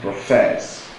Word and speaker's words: profess: you should agree that the stress falls on the second syllable if it fall on the second how do you pronounce that have you done the loation it is pronounced profess profess so the stress